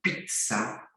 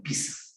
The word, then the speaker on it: pizza: Y en esta pizza, y hay algunos que a veces pronuncian pizza, se eliminó ya hace bastante tiempo de la Real Academia la pronunciación con la T, ¿no? Entonces solo se pronuncia así como pizza, como la torre de Pisa igualito, ¿ya?